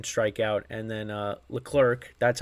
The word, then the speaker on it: Leclerc: An inning and a third, no hits, 1 strikeout, and then Leclerc, that's how you pronounce his name, pitched an inning, the ninth, and he had 2 strikeouts.